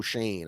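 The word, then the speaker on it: Schoen: how to say joe shane i was calling him joseph yeah yeah shane so yeah same once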